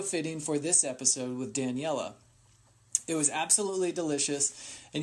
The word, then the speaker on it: Daniela: Daniela. Yes. Because at first I was saying, Danielle, which I'm sure you've probably grown up with a little bit, but so much.